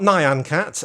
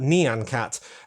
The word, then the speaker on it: Nyan Cat: instantly know that that is Nyan Cat not Nyan Cat as some people pronounce it but Nyan Cat neon meaning meow basically in Japanese or on